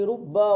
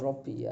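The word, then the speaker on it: رُبَّ: Ma zaida ala harfi rubba wal kaf. Bacanya jangan robi ya. Ma zaida. Ma tambahan yang masuk pada apa? Pada huruf rubba dan kaf.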